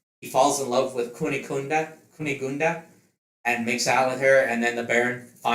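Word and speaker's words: Cunégonde: Uh oh my god, I forgot how how to pronounce this damn thing. Oh, Kunigunda.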